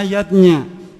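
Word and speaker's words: yajña: Bunda rukunnya yaitu Panca Yadnya Panca artinya lima zatnya itu artinya lima macam keselamatan zatnya tulisannya yajna ya Bunda tapi membacanya zatnya yang pertama adalah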